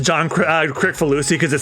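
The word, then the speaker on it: Kricfalusi: I should point out, it's pronounced John Crickfalusi because it sounds like we're slandering John Krasinski, who is Oh no.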